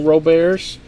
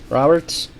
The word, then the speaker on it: Robert: I think we may have had one jumbo with no Roberts. Roberts. I don't know why I call him Robert. I seem to think that's how you pronounce it, but I think it's just Robert.